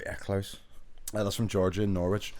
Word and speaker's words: Norwich: Norwich. Not Norwich. Norwich. Norwich. Norwich. Norwich. Well, it's spelled N O R W I C H.